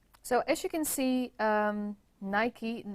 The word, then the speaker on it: Nike: So as you can see, Nike, now we all know how to pronounce it correctly as well, because it's Nike, it's not Nike. Because Nike was the Greek goddess of victory, and you can see